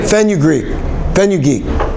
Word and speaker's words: fenugreek: How do you pronounce that? Fenugreek.